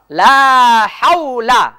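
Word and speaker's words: لا حول: লাম হা ওয়াও জবর হাও লাম জবর লা লা হাওলা লা হাওলা লা হাওলা লা হাওলা একটা হইলো হাওলা আরেকটা হইলো হাওলা উচ্চারণটা হবে লা হাওলা লা হাওলা এই যে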